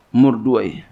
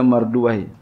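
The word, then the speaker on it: مردويه: Wa rawahul Hafiz wa Abu Bakr bin Murduai, ya, guru saya Kiai Syafi'i Azami kalau baca beliau Murduai. Ya, walaupun ada yang baca Marduai, Marduyah, ya, beliau bacanya Murduai.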